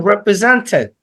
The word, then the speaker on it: represented: So it isn't represented, but it is represent. Represented. Represented. Represent. represent. T is Okay. silent. T is silent.